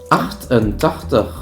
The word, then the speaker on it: achtentachtig: Actually, the first part, acht, is the same in German. Also the exact same pronunciation, everything. Mm-hmm. So actually, the second part was the difficult thing. The TaCHTIG. More like, where does the T come from all of a sudden?